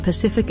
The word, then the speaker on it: Pacific: Every sea in Pacific Ocean is pronounced differently. Take your time to say it slowly, and you'll notice that each C is said differently, the first with an S sound, the second as a hard CK sound, and the third with a SH sound.